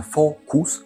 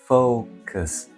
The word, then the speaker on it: focus: Що це не фокус? Фокус. Focus. Focus. Що таке знаходиться в першій частині? Це diнong. Зазвичай це коли символ один, але звука два.